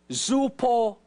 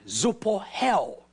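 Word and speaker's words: ζωοποιέω: The word quicken is the Greek word zoupohel. That's how they say it, zoupohel.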